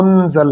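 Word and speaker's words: مُنزَل: اب کسی کو آپ منزل کہیں گے تو وہ کہے گا کہ یہ کیا آپ نے نیا لفظ نکال لیا ہے. تو یہ صحیح تلفظ ہے وہ منزل ہے.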